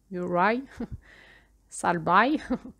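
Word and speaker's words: Murry Salby: Euh donc c'est un climatologue américain, donc j'imagine que son nom se prononce pas du tout comme ça. Je vous l'épelle. M U2 RY Muray Salbai S A L B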